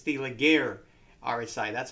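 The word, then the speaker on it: Laguerre: it's it's it's the Leger RSI that's how it's pronounced leer or something it's a French word yeah but um you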